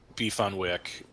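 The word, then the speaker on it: beef on weck: Buffalo beef on Wick it's pronounced beef on Wick what the wack is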